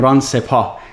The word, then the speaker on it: Sepah: I have to say it the Iranian way once, Dr. Sepah.